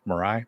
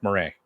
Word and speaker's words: Marais: Mirai at this point Marais Mirai Marais there we go I always mispronounced that town in the meantime